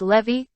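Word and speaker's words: Lévis: ladies named mathen Noe levies which was pronounced Levy camby's pronounced canvas these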